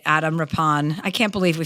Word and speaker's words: Rippon: All right, Adam Rapon. I can't believe we finally got the pronunciation of your name right. You wouldn't think it would be that confounding. It's r i p o n.